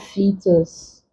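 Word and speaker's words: foetus: Good example, we have fetus. The OE here is for the long E sound, fetus.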